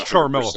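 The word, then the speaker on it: Ciaramella: I've heard the last name pronounced a couple of different ways. Well, the last name is Charmella.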